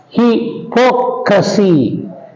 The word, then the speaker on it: hypocrisy: For example, you see democracy, hypocrisy, cinematography, understand. So all these words take stress on the 3rd syllable from the end.